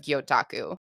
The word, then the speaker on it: gyotaku: assume that essentially to do direct versions of gyotaku that did I say it right M perfect